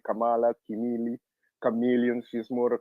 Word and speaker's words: Kamala: are definitely into black magic they all supported kamla or camela my bad don't crucify me I said her name wrong oh my God oh my God I